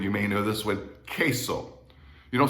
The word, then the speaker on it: queso: the u is silent every time you see a u in spanish after a q it is always silent like in the spanish word you may know this one queso you don't say queso you say queso or